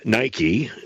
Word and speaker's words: Nike: another large apparel manufacturer whose name starts with an N and rhymes with bikie Nike he claims that they